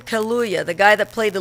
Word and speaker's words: Kaluuya: And Daniel, how you pronounce his last name? Kaluuya, the guy that played the lead in Get Out movie, he's in The Widows as well.